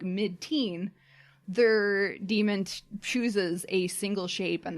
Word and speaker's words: daemon: of their souls and it's written like daemon but it's pronounced demon and when they're a